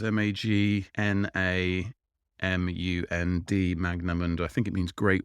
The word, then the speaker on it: Magnamund: best time to jump into the world of magnum and there's already 31 books in the series and